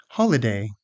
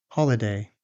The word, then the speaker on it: holiday: Holiday. This word has stress on the first syllable. Holiday.